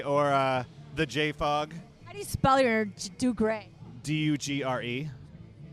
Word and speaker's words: Dugre: all the social medias with my name do gray or the Jay Fogg Belliard do gray do you GRE it's a it's a family